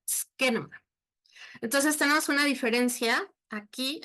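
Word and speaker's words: σκήνωμα: Así en griego se escribe como está ahí, y se dice skenoma, por si quieren aprenderlo, skenoma.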